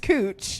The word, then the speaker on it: Couch: in portland we have a street that's spelled couch c-o-u-c-h but it's pronounced cooch and then that's more